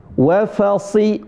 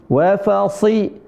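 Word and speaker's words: وفصيلته: Hmm. Karena huruf shad termasuk di antara huruf istilla'la kemudian huruf itbaq tebalnya kebangetan ya sh si. Heeh. Dan segala keadaan mau fathah, mau kasrah mau domah dia tetap tebal.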